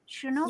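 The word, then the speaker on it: Chinook: we get I have no clue what a shinook is Danielle is that how you pronounce it shinook yeah okay girl you you got to give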